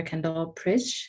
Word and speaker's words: Kendall Pritsch: And so we have returned Peace Corps volunteer Kendall Pritsch. Is that how you pronounce it?